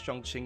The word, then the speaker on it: Chongqing: to really totally tank the way that I pronounce Chongqing is pretty much correct that's really good news